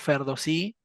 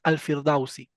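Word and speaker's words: Ferdowsi: los árabes porque bueno en persa pronunciamos ferdosí los árabes pronuncian alfil dauci bueno él en su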